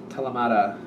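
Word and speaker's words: Thelema: The Renata Lechner Telemata Tarot. I believe the H is silent.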